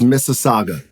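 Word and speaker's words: Mississauga: It's Missaga.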